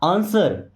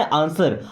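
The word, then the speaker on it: answer: आंसर। यहां पे W silent है ना आंसर।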